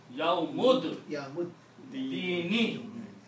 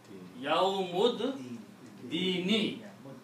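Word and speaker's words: يَوْمِ الدِّينِ: Do not pronounce this alif here. And a yawmud, not ad, yawmud, dini, yawmud, dini.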